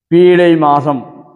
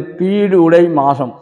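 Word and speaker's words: பீடுடை மாசம்: பொதுவா இந்த மார்கழி மாசத்தை பீடை மாசம் என்று தவறான உச்சரிப்பிலே பக்தர்கள் பயன்படுத்துகிறார்கள் இது வந்து பீடு உடை மாசம் பீடுனா வெற்றிகரமான மாசம் ஏன் இதை வெற்றிகரமான மாசம் என்று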